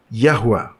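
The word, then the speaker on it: Yahweh: dan menemukan arti aslinya sekarang jhova atau seperti yang kita ketahui pengucapan yang benar adalah yahwa memiliki nomor referensi sendiri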